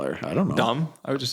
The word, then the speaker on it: Domi: So wait, somebody told me that it's Domi, like rhymed with mommy. Domi? Not Domi, that rhymes with foamy.